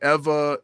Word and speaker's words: Ewa: And it's spelled EWA, and the W in Hawaiian is pronounced with a V.